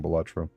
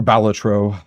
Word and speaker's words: Balatro: I should really stop playing Batro or Balatro I guess is the actual pronunciation.